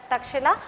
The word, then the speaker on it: तक्षशिला: लिखते हैं, ठीक है, but this is the correct pronunciation और the spelling of that तक्षशिला।